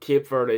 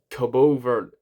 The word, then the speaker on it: Cabo Verde: Oh, is that Cape Verde? It's Cabo Verde.